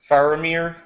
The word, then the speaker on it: Faramir: yeah I guess I'm loneliness I was uh faramir is that the right pronouncation yeah it's fine yeah I was faramir